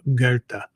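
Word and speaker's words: Goethe: Most people would pronounce it Goth or Goth or something like that because the way it's spelled, but it's in German it's actually pronounced uh Gerta.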